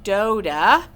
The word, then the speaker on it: Dota: be here with you my name is miss dota rhymes with soda i always tell everybody